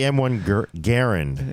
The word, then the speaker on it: M1 Garand: Is there an M1 Garand in it? No, it's actually M1 Garand. Is the proper way to pronounce his name.